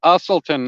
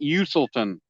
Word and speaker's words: Usselton: It's Usselton, not Uselton.